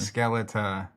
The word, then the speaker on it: Skeleta: It's literally spelled like skeleton. It's a skeleton. Skeleta. There's no O-N at the end. There's an A.